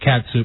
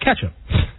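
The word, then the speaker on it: Catsup: I know it's it's it looks like it's pronounced cats sup but it's called ketchup thank you boy same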